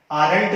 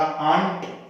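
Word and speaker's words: aren't: नॉट को जोड़ के आरंट नहीं बोलते हैं, कई लोग इसको आरंट बोलते हैं, तो वो एक गलत उच्चारण है, इसका उच्चारण होगा आंट और वी।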